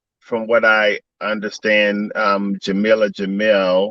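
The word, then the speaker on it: Jameela Jamil: what i understand um jamilah jamil i believe is how you pronounce her name is playing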